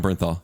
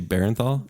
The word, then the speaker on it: Bernthal: and all huh John Bernthal yeah Punisher yeah Punisher oh I've been saying his last name wrong did you say barenthal yeah how do you say it John Berenstain Bears yeah Bernstein Bears first and all personal I